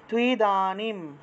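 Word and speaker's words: ত্বিদানীম্: সুখম তুইদানিম, তয়ের নিচে বফলা, তয়ের নিচে বফলা থাকায় তুও উচ্চারণ, ঠিক আছে? আর রস্বইকারটা অন্তস্তয়ের সাথে যুক্ত হলো। তয়ের নিচে বফলা থাকায় তুও, তুও উচ্চারণ।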